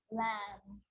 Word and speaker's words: lamb: It's always silent when it follows the letter M. Climb, crumb, lamb, thumb, dumb, and plumber. So practice them with me. I'm not pronouncing the B, I'm just pronouncing the M consonant sound.